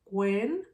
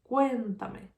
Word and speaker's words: cuéntame: Then where is the strongest sound? Cuéntame, cuéntame. If I have the stress in the third syllable, this word is called esdrújula.